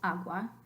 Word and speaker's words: agua: separate from ah so agua is only two syllables agua and Fria is two